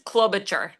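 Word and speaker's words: Klobucher: Uh my last name is Clolobacher. Clolobacher. Okay. You want to spell that for me?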